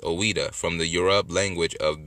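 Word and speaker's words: Ouidah: judah is an angelicized form of ex the pronounced oweda from the europe language of benin yoroba language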